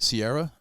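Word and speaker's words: Ciara: Sierra that's how you name that's how you say it.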